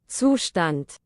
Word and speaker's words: Zustand: We need to properly hear the Google pronunciation. So for the first time ever, y'all get to hear the right way to pronounce Zustand on my channel. Zustand. And that is the last time you will ever hear Zustand pronounced correctly on my channel, because I am never, ever saying it that way.